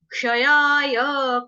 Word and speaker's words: क्षयाय: क्ष कौन सा है, जैसे होता है कक्षा, कक्षा में होता है ना, कक्षा, लक्ष्य, दक्ष, स्मक्ष, वो वाला क्ष।